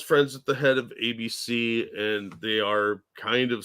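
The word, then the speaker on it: Abe: this Michael thank you it's pronounced AB I now that you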